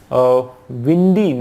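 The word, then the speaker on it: Bwindi: population lives in डी वाइंडिंग national park Uganda है ना बी यहां पर साइलेंट है की एक पापुलेशन जो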